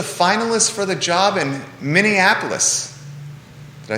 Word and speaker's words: Minneapolis: She's a finalist for the job in Minneapolis. Did I say it right? You did. Minneapolis.